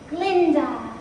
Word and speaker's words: Glinda: Since Dr. Dillamond had his own way of pronouncing my name in solidarity and to express my outrage, I will henceforward be known no longer as Glinda, but as simply Glinda.